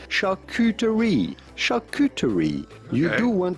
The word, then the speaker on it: charcuterie: Charcuterie. Charcuterie. Now in French, you'd say charcuterie.